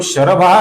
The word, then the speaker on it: शरभो: यहाँ पर जो शरभः नाम है, इसका जो विसर्ग है, इसके आगे भ ये मृदु व्यंजन आने के कारण विसर्ग का ओ हुआ है, शरभो हुआ है।